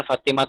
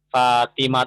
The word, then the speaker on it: Fatimah: Itu yang Fatimah, itu bukan Fatimah tuh bacanya ya. Yang benar adalah Fatimah tuh.